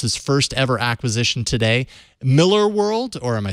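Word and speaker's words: Millar: Miller world it's it's Miller World Miller a lot of people a lot of people make that mistake because it's it's spelled malar yeah but he is Scottish and it is pronounced Miller all right cool so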